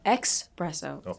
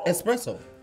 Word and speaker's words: espresso: that is a right you said expresso oh boy espresso espresso it's correct I'll give it to